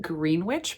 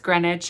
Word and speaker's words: Greenwich: we'll get into a brief spoilerless review of Greenwich Park by Katherine fauler a short aside in my last video I did call it green witch Park um cuz I'm an idiot I have